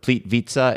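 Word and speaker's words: Plitvice: and just Google it ple vitza is spelled p l t v i c e cuz however you think you're supposed to say it when I'm pronouncing that's not right so Google it and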